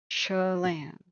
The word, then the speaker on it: Chelan: It's like, it's pronounced Chelan. Like emphasis on Chelan, right? Am I finally saying it right? Chelan?